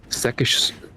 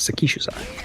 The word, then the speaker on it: Sekishusai: Because I think they typically put the emphasis on like one of the earlier. They do the first one. Yeah. If it's English speakers typically do the second one. Yeah, it's gonna be the third syllable from the end, I think.